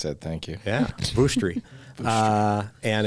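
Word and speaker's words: Vushtrri: It's in the I was going to ask you to pronounce that. Thank you. Yeah, Vuštri.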